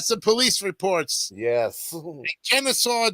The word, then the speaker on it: Kennesaw: In Kennesaw, Georgia, if I'm pronouncing that right. Yeah, you are.